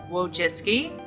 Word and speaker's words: Wojcicki: But it's Wojcicki, and it's Polish, and that's my name. It's actually not that hard to say. It just looks hard when you see the spelling.